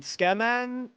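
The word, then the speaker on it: tsukemen: I'm trying to remember my favorite Oh, we had like a um Skeman uh place in Kyoto.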